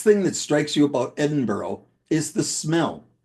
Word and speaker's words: Edinburgh: You see, Edinburgh is not pronounced Edinburgh from the Saxon phrase meaning Ed in a mountain. It is pronounced Edinburgh, literally Ed on a donkey.